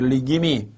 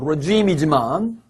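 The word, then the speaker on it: regime: 할 수 없기 때문에 리김이 여러분 리김이에요. 물론 발음은 레짐이지만 정권이나 체제가 다시 공산주의가 되었네 이렇게 말할 수 있다.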